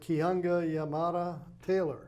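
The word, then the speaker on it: Keeanga-Yamahtta Taylor: If I say it right, Kihanga Yamada Taylor Yeah, that's right.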